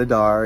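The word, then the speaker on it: Adare: Adair as I Manor. was corrected, I was saying it wrong. It's not Adair, it's Adair, where they meet you at the gate in tuxedos, top hats and tuxedos.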